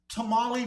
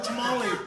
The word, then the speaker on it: tamale: days you guys yeah tamali and and I know I'm Mexican but that's how I say tamali okay I can't I can't say it properly anymore I can't even roll my RS anymore I tried to roll